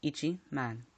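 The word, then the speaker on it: 一万: rule the 10k rule if the number is merely ten thousand it must be pronounced with itchy before man example ten thousand equals Ichi man without further ado let's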